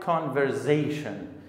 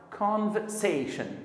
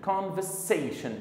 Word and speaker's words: conversation: They pronounce it like conversation. The letter S here in this word, it's not Z sound. It is S sound. We have to pronounce it like conversation. Conversation. It is not conversation.